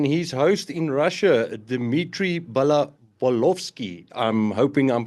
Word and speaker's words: Balkovsky: And then his host in Russia, Dmitry Balkovsky. I'm hoping I'm pronouncing that right, Dmitry.